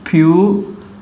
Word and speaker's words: purity: Next example is simple example, purity. I is vowel. Immediately after R, we have vowel. So R is not silent.